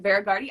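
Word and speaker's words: Hveragerði: The H is silent. Verigardi, Iceland, so southern Iceland.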